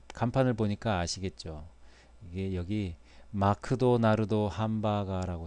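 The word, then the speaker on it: マクドナルド: 기억이 나는데, 아무튼 일본에서는 맥도널드라는 발음이 일본어 발음으로 잘 되지 않아서 마크도나르도라고 합니다. 마크도나르도.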